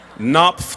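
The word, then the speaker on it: Knopf: Spectacular Now published by kop in my pronunciation guide it said the K is pronounced in kop knp tonight all right settle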